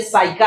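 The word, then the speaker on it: psyche: word आ सकते हैं पी पी के लिए बात करते हैं तो ये साइका है नहीं तो उस तरफ प साइका पढ़ते ये साइका है प सा हो गया है यहां साइटिस होता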